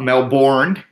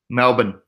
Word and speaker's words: Melbourne: Not Melbourne, Melbourne. Melbourne, that's how you pronounce it.